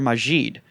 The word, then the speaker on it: Magid: last name is actually the actual pronunciation of my last name is uh mageed or majid they changed it you